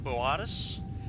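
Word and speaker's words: Boötis: of everybody is that it's actually pronounced like cooperation um and the what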